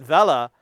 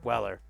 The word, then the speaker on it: Weller: Vel yes the Vella and he kept saying it Vela and I was like and then I saw a made in Germany and I'm like oh oh we're we're pronouncing it in uh German okay I'm in but yeah technically you're right Haze it's just Weller we don't say Rome